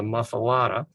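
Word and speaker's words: muffuletta: It is spelled as you see it here, but it's not pronounced like it's spelled. It's called a muffalata, and it's not called a muffalata sandwich.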